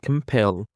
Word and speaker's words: compel: For the first word, we have compel. Compel. The stress is on the second syllable. Compel.